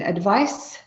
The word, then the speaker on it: advice: So you can hear the difference in pronunciation. Advice, advise.